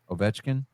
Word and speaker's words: Ovechkin: In hockey news, the great one was tied and surpassed by Alex Ovechkin Ovechkin. Ovechkin.